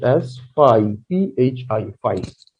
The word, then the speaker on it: phi: and this letter which you see here is pronounced as pi p h i phi right now we proceed to some examples